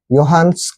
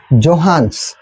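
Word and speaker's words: Johannes: केला असे आले आपल्याकडे योहान्स केपलर आता खूप वेळा बघा यांच्या नावाच स्पेलिंग आहे यांच्या नावाच स्पेलिंग आहे जोहान्स पण जोहानस नाही वाचायचं त्याला ते काय आहे प्रोनन्सशन आहे योहान केपलर मग योहानस केपलरने येऊन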